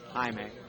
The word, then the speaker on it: Jaime: Jaime. Like hi, May.